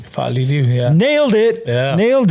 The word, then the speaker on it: Faaliliu: Today we have another special guest, and I'm going to make sure I pronounce this right. Faaliliu. Faaliliu, yeah.